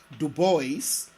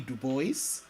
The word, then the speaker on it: Du Bois: Legend William Edward burgert Du Bois more popularly known as W.E.B Du Bois and yes Du Bois not DuBois and being faithful to the way he pronounced his name W E B Du